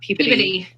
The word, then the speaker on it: Peabody: I know it's not Peabody, it's Peabody. Peabody. It's how they pronounce it, I believe.